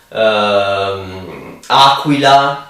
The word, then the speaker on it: aquila: Quadro, the Q in reality has the same sound as C, maybe a stronger sound, and we use it as in common use, but the pronunciation is in reality a C or a strong C.